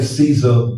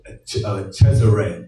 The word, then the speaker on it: Cesare: He was a pope, and he was the father of some say Caesar Borgia, but it's pronounced Cesare Borgia.